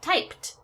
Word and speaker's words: typed: past tense when we we add the Ed becomes typed because P again is unvoiced and then my last